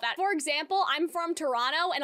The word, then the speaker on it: Toronto: for example I'm from Toronto and a lot of people will say Toronto they won't pronounce it like Toronto and so they do